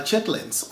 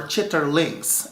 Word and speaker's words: chitterlings: eat organ meat also like chitlins or chitterlings as you would pronounce it correctly so if this is